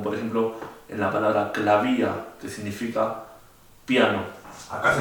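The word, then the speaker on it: Klavier: ejemplo en la palabra clavía, que significa piano. Acá se los escribí, clavía significa piano, y en este caso la B corta se pronuncia como B corta.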